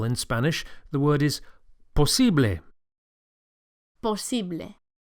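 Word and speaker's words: posible: Spanish the word is possi POS the second syllable the E is accentuated POS POS and the final a sound POS is a pure vowel not a don't say POS but Poss POS impossible in Spanish is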